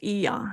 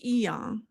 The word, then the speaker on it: E.ON: I think it's pronounced E.ON. Here we go.